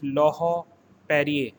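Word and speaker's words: Laurent-Perrier: is called lojo perrier here t and r word is silent and en is pronounced as on so again i am repeating it is lahore perrier perrier champagne brands la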